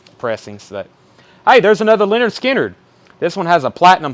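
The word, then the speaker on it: Skynyrd: I wish they were all pronounced and second helping, but it's Skinner.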